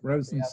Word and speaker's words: Rosenstiel: Yeah, you're absolutely right. Rosenstiel. Yeah. Rosenstiel. Absolutely. Perfect. But it's commonly mispronounced because it's originally, you know, it's a German last name.